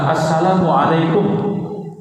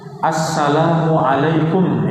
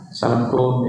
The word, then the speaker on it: Assalamualaikum: Tebarkan Salam Assalamualaikum ya Ucapan salam diucapkan dengan jelas ya ya para Bunda karena itu bahasa Arab ya asalamualaikum Ya dengan lafaz yang jelas ya kadang kalau cepat ya salamum ya iya lampum ya jangan ya I kadang menjawabnya